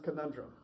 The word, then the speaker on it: Konundrum: Let's talk about the band, and I want you to pronounce it because I don't want to get it right. Konundrum.